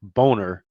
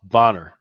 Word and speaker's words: Bonner: ralph it's ralph and i know she pronounced it boner but it's actually it should be ralph bonner yeah right so i